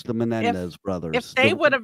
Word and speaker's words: Menendez: I guess maybe if the Menendez brothers.